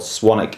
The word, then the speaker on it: Swanwick: w i c k there's a silent w it's right there right cuz swanic yeah it's right there swanwick is how it's spelled swanic is how pronoun great we're here to